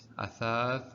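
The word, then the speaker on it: أثاث: It has fatha above it, so it should be athath. And plus the after tha there is alif, which is in this case a mad, and mad is responsible for elongating the sound before it.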